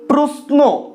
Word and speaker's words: প্রশ্ন: যেমন ধরো প্রশ্ন, প্রশ্ন এখানে লেখার সময় আমরা লিখছি তালব্য স, সেক্ষেত্রে তালব্য স এর মতন করে উচ্চারণ করো প্রশ্ন, এভাবে কিন্তু আমরা পারছি না, প্রশ্ন, প্রশ্ন, দাঁতে জিভ না ঠেকিয়ে প্রশ্ন উচ্চারণ করে দেখো তোমরা পারছো কিনা, পারছো না, তো এই ক্ষেত্রে কি হচ্ছে তালব্য সটা দন্ত সয় পরিণত হচ্ছে।